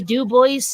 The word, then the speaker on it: Dubois: And also a lot of names and things that are French words are pronounced phonetically by Vermonters. Like, for example, I went to school with a Bonnie Dubois and a Jason Desjardins, and that's how they pronounce their own names.